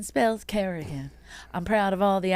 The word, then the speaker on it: Kerrigan: name wrong Kerrigan oh sometimes they'll say Carrington it sounds classier sounds like you're British royalty we're not British we're Irish Kerrigan say it right k e double r i g a